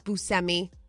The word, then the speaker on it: Buscemi: that's that's the same place Steve Buscemi is busemi I mean we knew that Charlize Theron they're